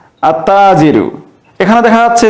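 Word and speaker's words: التاجر: এখানে দেখা যাচ্ছে যে আমরা যখন আত্তাজিরু উচ্চারণ করছি সেক্ষেত্রে তাজিরুন এর প্রথমে যে আলিফ লাম যুক্ত হয়েছে আলিফ লামের লামটি উচ্চারণ না হয়ে শব্দটির প্রথম অক্ষরে তাসদিদ যুক্ত হয়ে উচ্চারণ হচ্ছে আত্তাজিরু ব্যবসায়ী এরপরে আসসাবু কাপড় এরপরে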